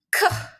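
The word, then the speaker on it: ㅋ: ini ke ke jadi dia kayak K tapi ada kayak sedikit ee hembusan H-nya ke ke kalau dia di akhir jadi K ya jadi ska lah ya ini huruf K.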